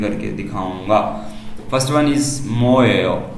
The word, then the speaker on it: 뭐예요: यहाँ पर मैं ट्रैक प्ले नहीं कर सकता, यहाँ पर मैं आपको डायरेक्ट खुद ही प्रोनाउंसिएशन करके दिखाऊंगा। First one इज मोएयो। मोएयो, अब क्योंकि एंड पे क्वेश्चन मार्क है तो हम उसको थोड़ा सा लेके जाएंगे, मोएयो।